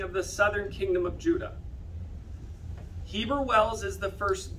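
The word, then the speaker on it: יהודה: Judah. Okay, how would the ancient Judeans have said it? Judah. Oh my gosh. Yehuda. Because the J or the Y is a Ye. Yehuda.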